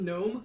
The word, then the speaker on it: gnome: Pronouncing gnome with a silent G isn't that unheard of. Isn't that the correct pronunciation? Isn't it gnome rather than gnomes?